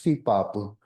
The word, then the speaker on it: Sipapu: travertine dome spring that we pronounce it as Sipapu or Sipapuni in another dialect for that emergence place, the dome travertine hot spring as that wormhole in the Grand Canyon.